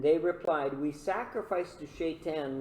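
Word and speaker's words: Shei'tan: Shaitan. Very similar to Satan, eh?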